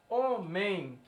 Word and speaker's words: homem: é um dígrafo nasal porque ela é pronunciada da seguinte maneira homem tão esse e m ele não tem som de e contigo ele tem som de i então seria um e